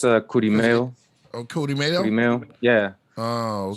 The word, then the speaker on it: Kurimeo: how you pronounce his name? Say it one more time. Yeah, it's Kurimeo.